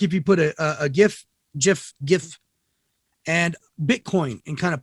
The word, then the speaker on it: GIF: It's almost like if you put a GIF and Bitcoin and kind of put them together, you get kind of NFTs. It is supposed to be pronounced GIF, by the way.